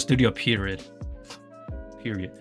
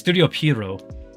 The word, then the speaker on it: Studio Pierrot: I pronounce it Studio Period. It's Studio Pierrot, as in a clown.